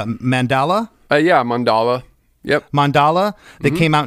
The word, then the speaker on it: Mandala: The previous record to that was called, I think I'm pronouncing this right, it's Mandala? Yeah, Mandala.